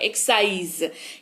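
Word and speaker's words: excise: यहां पर देखिए एक्स लिखा हुआ है, एस नहीं लिखा हुआ है। एक्स के बाद, जस्ट बाद उसके एक्स, एस नहीं लिखा हुआ है, लेकिन उच्चारण आ रहा है एक्साइज, यानी कि उत्पादक शुल्क।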